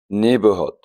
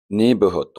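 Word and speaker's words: neighborhood: نيبرهود نيبرهود خد بالك ان كلمة نيبر هي الجي اتش اللي تنطق ان جاي بعد الاي، يبقى نيبرهود حي.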